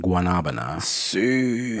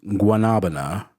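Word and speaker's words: guanábana: And if you can't pronounce guanabana, for those that are old enough, you may remember the song from the Muppets, Mana Mana, doop doo doo doo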